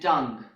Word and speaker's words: tongue: And at the end, we have the words vogue, rogue, and tongue. In these words, the letter U is also silent.